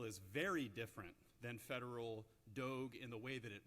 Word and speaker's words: Doge: known as do now some people are pronouncing it Doge because of the you know old school clerical implications I prefer dog but in late 2013